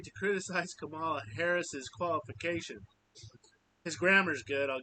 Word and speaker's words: Harris's: Harris's is how you say that.